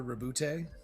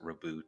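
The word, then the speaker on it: Roboute: abidon it's like but that is how it's pronounced is Gilman there like uh Ruto or route yeah yeah Rob yeah they it is rout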